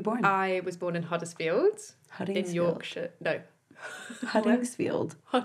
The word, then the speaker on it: Huddersfield: I was born in Huddersfield. Huddingsfield. In Yorkshire. No. Huddingsfield. Huddersfield? Sorry. Like Hudder, but with a H. Oh, Hudder. Yeah. No. We're Huddersfield. Huddersfield.